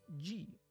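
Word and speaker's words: じ: This is G, or G. Here's the exception. You pronounce this as G. This character is an exception in this set, as it is not a Z syllable.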